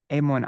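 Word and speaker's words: এমন: But we don't need to get into that because you can totally just say Emon. I don't say Emona Durmati.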